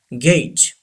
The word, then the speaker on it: gauge: Yes, this G gives the sound G and this G, J. Gauge.